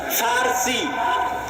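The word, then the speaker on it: فرس: আর একদিকে পারস্য, পারস্য মানে ফার্সি, বাংলায় বলে প, কিন্তু ওটাই আরবিতে আছে ফার্সি, ফুরস। কেন আরবিতে পর কোনো উচ্চারণ নাই, আরবিতে পর কোনো উচ্চারণ নাই, সেটা আমরা পারস্য বলতেছি, ওটাই আরবিতে বলে ফুরস, ফার্সি।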